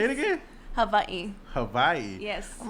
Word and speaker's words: Hawaii: okay say it again Havi Hawaii yes I'm like where is Hawaii that's how oh I never I never uh heard nobody call it yeah in the Hawaiian language the W is pronounced VA okay okay so what